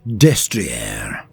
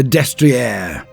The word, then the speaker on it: Destrier: style of night, the Destriè. Even though I remember it being pronounced Disteria, but my memory is not what it was.